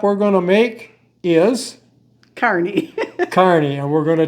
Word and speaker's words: Kearney: We now know how to pronounce Carney. That's right. It's Carney, not Carney.